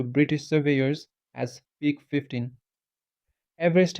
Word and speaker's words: Everest: Everest himself reportedly preferred the pronunciation of his surname to be closer to Everest rather than the commonly used Everest.